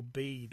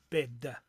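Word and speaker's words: Bede: source on this is the venerable bead or bed as more is the correct way of of pronouncing and um keeping in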